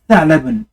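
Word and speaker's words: ثعلبٌ: Tha'labun.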